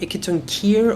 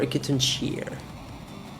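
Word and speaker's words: Hecatoncheir: It's, well, you have 2 ways of saying it. You can say Hecaton Kier or Hecaton Cheer. Depend on if you want to go with the Greek side or the normal one.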